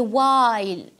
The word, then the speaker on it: while: اذا هنا عندي honesty، عندي campaign اللي هي حمله هنا الجي ما يتقراش، عندي while دونك الاش تاعي ما يتقراش، وعندي fight يحارب عندي جي اتش هذا ما يتقراش.